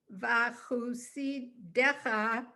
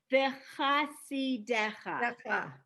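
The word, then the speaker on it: וַחֲסִידֶיךָ: Tov Adonai Lakol Mav Al Kol Ma'asav Yoducha Adonai Kol Ma'asecha Vachusidecha Yivarechu Almost. V'chasidecha.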